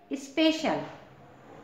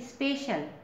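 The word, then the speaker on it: special: है ना तो इसका चच श होगा जैसे स्पेशल एस पी ई सी आई ए एल स्पेशल इसको स्पेशल इस तरह से पढ़ेंगे टीई सी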